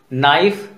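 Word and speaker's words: knife: अब देखिए के एज a silent letter, no, knowledge, नाइफ, knock, नी, night, नील, इनमें देखिए एक तरह की समानता है और के और एन एक साथ है, इस तरह के वर्ड में के साइलेंट रहता है।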